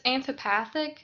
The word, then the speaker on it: amphipathic: So it's amphipathic. It's a little hard to pronounce, but you were definitely on the right track, and that's the term for that.